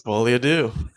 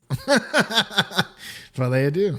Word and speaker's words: Folie à Deux: It's Folie Adieu. Folie Adieu.